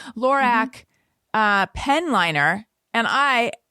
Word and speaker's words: Lorac: then mary katherine recommended this lorac am i saying it right it's carol backwards lorac uh pen liner and